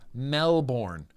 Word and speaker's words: Melbourne: Melbourne. It's Melbourne, Australia. You know how I can tell? Because it's spelled Melbourne. You don't say the burn identity. You say the born identity.